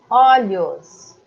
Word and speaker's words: olhos: Olhos. No plural é aberto. Olhos.